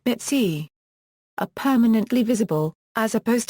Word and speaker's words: BITC: BITC, burnt-in-time code, pronounced BITC.